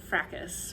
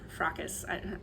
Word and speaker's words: fracas: The word in English is pronounced fracas or fracas.